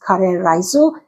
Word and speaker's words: Karē Raisu: Japanese curry rice, pronounced curry risu, and is the national home cooking dish.